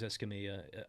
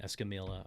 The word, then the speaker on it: Escamilla: made Erin Mendenhall lose Escamilla Escamilla was on our program sorry for pronouncing her name s Camila I got a lot of online mispronouncing her name but we she was